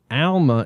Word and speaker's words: Alma: the way now this Alma is pronounced like the name Al Al Bundy thanks so